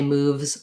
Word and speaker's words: moves: And then when you want to just say moves or wolves by itself, what I would do is first say moves it, then get more quiet on the it, moves it, and then think the it in your mind so your mouth will still do what it's been doing, moves, and just think it, and you might find